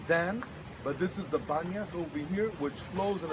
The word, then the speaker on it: Banyas: The place is called Banyas, but actually it's a mispronunciation of Panyas. Pan, the Arabs, cannot pronounce P.